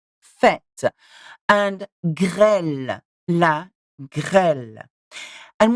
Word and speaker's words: fête: Have a look at fête, une fête, E sound, not fête, fête.